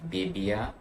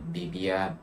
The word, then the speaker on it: BBIA: products that i got this is the bibia i believe that's how you pronounce it bibia it's like b dot b-i-a it's like this bibia